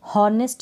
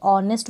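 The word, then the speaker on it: honest: इसको अवर बोलते हैं हा जो साइलेंट है इसको भी हॉरनेट नहीं बोलते ऑनेस्ट बोलते हैं हा यहां पर भी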